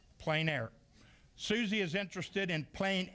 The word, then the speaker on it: plein air: This is pronounced? Plein air. Plein air.